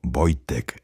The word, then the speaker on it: Wojtek: El cachorro fue bautizado con el nombre de Wojtek, pronunciado Wojtek en polaco, que significa el guerrero sonriente o el que disfruta de la guerra.